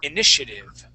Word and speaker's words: initiative: good yeah so uh this uh T here in the middle uh we would pronounce that more like an sh inish initiative initia good all right now